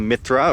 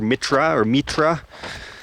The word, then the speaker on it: Mithra: over here from the cult of Mithra, or Mitra, pronounced many different ways.